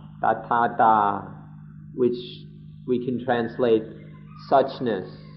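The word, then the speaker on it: Tathatā: ourselves, the Dhamma of Tathata. Tatha means thus or such, like this. And Ta means state of being. It means the state of being. So Tathata can be pronounced Tathata or Tathata, means the state of being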